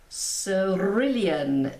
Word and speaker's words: cerulean: and how I got it so brilliant blue cerulean it is pronounced the sea is soft let me get